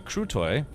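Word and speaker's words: крутой: So, Crutotoy is badass and pronounced uh crew toy and egro is gamer pronounced egro.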